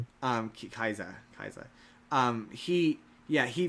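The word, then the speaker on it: Kaixa: His name is Common Rider Kaisa. It's K axa. Kaisa is how they pronounce it.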